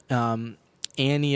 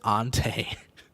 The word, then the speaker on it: ante: And we didn't really know the word Annie up or Annie very well, and so we thought it was French and pronounced it ante.